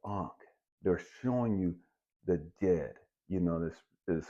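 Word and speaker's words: Djed: showing you the ank they're showing you the Jed you know this is spelled D J D Jed you know it's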